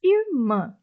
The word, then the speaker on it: irmã: E quando eu separo, eu entendo que a sílaba tônica dessa palavrinha é a última sílaba.